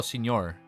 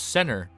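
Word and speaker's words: Señor: Oh, Senor. It's pronounced like senor like in Spanish. Oh, John. Thank you, John. I thought it was center since the since the end didn't have that one thing on it.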